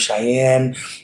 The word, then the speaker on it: Cheymodee: Their name is Cheyenne. It's spelled Cheymodee.